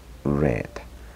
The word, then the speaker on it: read: que tenemos aquí aunque en el pasado lo pronunciamos también red como el color rojo Esa es la pronunciación del verbo read en pasado yo leí ayer